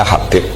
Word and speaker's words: Habib: Itu di harakatnya kitab itu ada yang nulis Subab. Tapi yang benar Oh, nggih. Yang benar itu bacanya Habib.